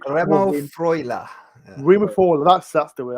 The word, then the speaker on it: Remo Freuler: Remo Freuler. Remo Freuler. That's the way. I apologize. Just put a German accent on, and it makes it sound like you're saying it right.